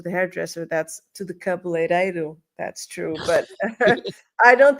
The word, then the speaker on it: cabeleireiro: So Cabeleireiro. Yeah, Cabeleireiro, there you probably.